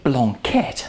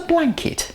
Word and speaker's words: Blanquette: let's have a quick word about the correct pronunciation it's called a blanquet not a blanket it's not a blanket any more than a